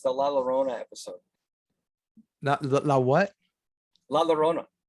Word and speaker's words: Llorona: La Llorona is La Llorona.